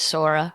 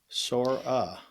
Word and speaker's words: Sora: Sora. How do you spell that? S O R A. Kind of like I got a sore ass.